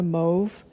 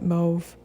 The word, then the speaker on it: mauve: I think it's almost like a mauve, or mauve, I guess, if you're American. I don't really know the rules on that pronunciation. I pronounce it mauve.